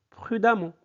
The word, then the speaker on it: prudemment: Ça se prononce amant, donc ça donne prudemment.